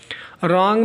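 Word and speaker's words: wrong: रॉन्ग में W silent है और बैले जो है बैले में टी साइलेंट है।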